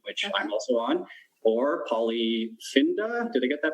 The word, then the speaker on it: Polyfinda: such as #Open, which I'm also on, or Polyfinda. Did I get that pronunciation right?